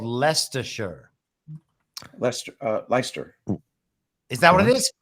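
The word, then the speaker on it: Leicester: that what it is leester leer I think it's leer yeah but yes but then possibly Lester no it's ler Lester l e i c s t r should be pronounced ler can you guys say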